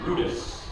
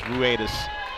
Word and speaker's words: Ruedas: Now coming to bat is the pitcher, number 22, Nico Rudis. As the PA announcer continues to get Nico's name wrong, is Ruedas.